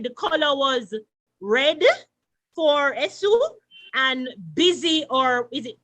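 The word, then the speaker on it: Èṣù: Esu? And he wants to make sure she pronounced it properly. Esu? Eshu.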